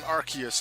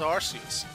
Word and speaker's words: Arceus: but then it was and then i think in early like vocals for the pronunciation of the name was rc's but then they thought wait in british english arse is a bad word so then we're going to change the pronunciation to arceus and not have the word arse in the pronunciation so now it's arceus there's some pokemon